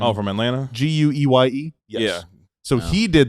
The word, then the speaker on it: Gueye: Gueye?